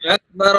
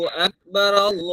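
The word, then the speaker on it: أكبر: আল্লাহু আকবার, আল্লাহু আকবার, আল্লাহু আকবার, হ্যাঁ, বার আল্লাহু মধ্যে একটা আকবার। র পুর হবে, মোটা হবে, ঠিক আছে?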